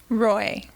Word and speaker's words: Roy: Roy. Roy, you you you made it sound so exotic. Roy sounded pretty nice, didn't it? It did. I didn't just sound like Roy.